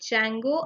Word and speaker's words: Django: django or django but d is silent over here so we call it as django okay so here when